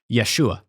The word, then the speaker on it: Yeshua: is historically accurate they actually use the correct pronunciation of Jesus's name as it would have been at the time which is Yeshua so Yeshua is Hebrew it's like mostly related